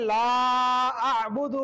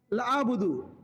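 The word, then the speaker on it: لَا أَعْبُدُ: আইয়ু হাল কাফিরুন তারপরে লা আবুদু মা তাবুদুন এখানে বেশিরভাগ হয়ে যায় অনেকের লাবুদু লাবুদু লাবুদু এখানে লা টান হবে লা তারপরে আবুদু হয়ে যায়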